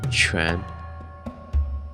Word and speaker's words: 荈: Ancient Chinese had several terms for it, pronounced in modern standard Mandarin as tu, jia, shi, ming, and quan.